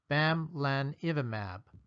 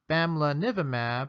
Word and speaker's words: bamlanivimab: certainly the case throughout this lecture i'll be pronouncing the name of this drug as bam lan evamab as time goes on you may hear other ways of saying the name such as bamla nivimab or bamla nivimab at this time the definitive